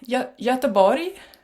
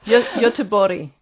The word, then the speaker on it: Göteborg: Göteborg. Oh, not at all. Göteborg. Yeah, that's the Swedish way of saying it. Yeah. Göteborg.